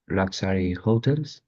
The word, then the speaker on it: hotels: of time on the Strip, which is a 2.5-mile stretch of shopping, entertainment venues, luxury hotels, and fine dining Hotels, el acento en la E, hotels.